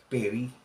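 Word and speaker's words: פְּרִי: doon sa genesis chapter 4 verse 3 is pronounced as Perry Okay p e r i okay which is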